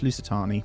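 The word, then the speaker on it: Lusitani: And there's the Louiswis uh Lucatani. I say it wrong every time. It's Lucatani.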